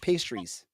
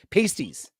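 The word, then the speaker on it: pasty: uh buffalo wings or Cornish pastries or sorry pasties pasties Cornish pasties posties I got to say it right I apologize I apologize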